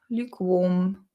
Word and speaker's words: lukewarm: in some way Luke lukewarm lukewarm lukewarm lukewarm warm so the stress is on on the warm L lukewarm lukewarm lukewarm